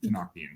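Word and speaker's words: Tenochtitlan: Trust me, their language doesn't make sense when you look at it and you try to pronounce it, but it's Tenoctian.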